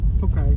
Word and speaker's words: Tokaj: Tokaj, yeah.